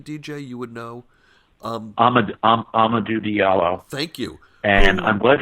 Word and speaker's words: Amadou Diallo: Going back to Amadou Diallo, am I pronouncing his name correctly, DJ? You would know. Amadou Diallo.